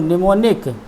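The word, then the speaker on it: mnemonic: जो बीमारी है, वो निमोनिक स्मृतिवर्धक, इसके नीचे है निमोनिया नंबर 19 पर। ये 18 नंबर पे M से स्टार्ट है, M का उच्चारण नहीं हो रहा।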